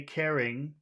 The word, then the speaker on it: caring: what the difference is physically the difference is that when you say caring you do not pull your you do not pull your tongue back the way that you do when you say number two so when you say number two you say carrying you pull your tongue back like a snake ready to attack carrying okay the carrying